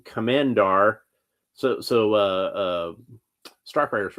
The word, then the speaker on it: Komand'r: But Komand'r, her name is Komand'r.